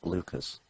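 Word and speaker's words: Leuchars: Heathrow Leeming and one in Scotland which is pronounced Lucas and there's also some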